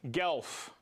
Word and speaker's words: Guelph: Guelph. That's the how to pronounce it.